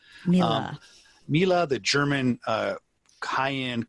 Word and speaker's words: Miele: our listeners tweet out us saying it's not M it's Mila Mila Mila the German uh high-end cooking appliance company